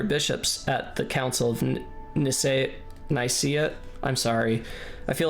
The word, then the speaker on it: Nicaea: Nicaea pronunciations I've heard vary from how you did it to basically IKEA, well, like the way I just said it. It was spelled differently here, though, wasn't it? Nicaea.